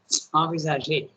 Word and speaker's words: envisager: You can also pronounce it in say that's French pronunciation, envisager.